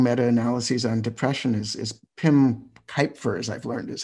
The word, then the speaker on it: Cuijpers: There's a meta-analysis, one of the major researchers in the field doing meta-analyses on depression is Pim Kuypers, as I've learned is how you pronounce his name, from the Netherlands.